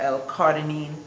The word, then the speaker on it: L-carnitine: L-carnitine, or L-carnitine, as some people pronounce it.